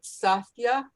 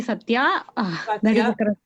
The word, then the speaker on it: Satya: to pronounce it right sasha did i say it correctly yeah you can call me satya yeah right um are